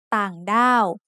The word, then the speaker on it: ต่างด้าว: So we can see that ต่างด้าว should have a low tone for the first syllable and a falling tone for the second syllable.